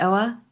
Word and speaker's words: Oa: Can we just talk about Oa? Am I saying it right? Oa?